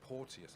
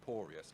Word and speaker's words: Porteous: his name oh yeah I said porteous like it was portentous but no it's just porous like porus so we'll go again